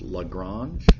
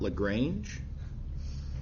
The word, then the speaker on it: Lagrange: will say LaGrange but the French mathematician did not agree he pronounced his name LaGrange okay so uh yeah